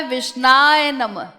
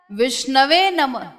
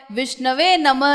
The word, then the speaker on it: विष्णवे नमः: देखो एक मूर्ख व्यक्ति वो कहता है विष्णाय नमः, और एक विद्वान वो क्या कहता है विष्णवे नमः। तो इसमें शुद्ध क्या है? शुद्ध वही है जो विद्वान बोल रहा है, विष्णवे नमः, ये शुद्ध उच्चारण।